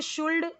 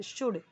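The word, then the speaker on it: should: नहीं दिया हुआ है इसे शुल्ड नहीं पढ़ना है यह एल है ना जो वह साइलेंट है शुड ठीक है और अर्ली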